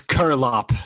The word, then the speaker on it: Curelop: It's yeah, it's Curlop, so Curlop, it's like Curlop. Kerplop without the first P.